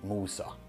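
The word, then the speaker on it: موسى: This shows that very little has changed since in many languages they still say Mosa and in Arabic they say Musa.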